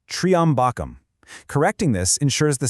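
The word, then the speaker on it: त्र्यम्बकम्: The word referring to the three-eyed one, Lord Shiva, is very often mispronounced as Trayambakam, but the correct phonetic strike It's triambakam.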